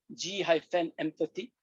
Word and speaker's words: Gempathy: that I have, and I call it group empathy, G-empathy, but I will pronounce as Gempathy.